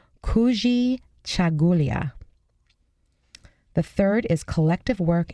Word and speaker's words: Kujichagulia: this one's great this word in Swahili is pronounced Kujichagulia the third is collective work and responsibility and